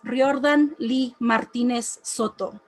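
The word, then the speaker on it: Riordan Lee Martínez Soto: not on the know my name is riordan lee martinez soto roll your r's get the acento right don't come at me with your gringo version because you can't be bothered to learn i break the boundaries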